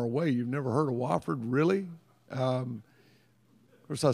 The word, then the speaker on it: Wofford: If I hear one of you say Wofford, I'm going to come after you. It's Wofford, Wofford, all right? It's spelled W-O-F-F-O-R-D. It's pronounced W-A-F-F-O-R-D, isn't it, Todd?